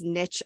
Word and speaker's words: niche: has a lot of I say Niche because it rhymes with Rich and Niche rhymes with quiche so if you are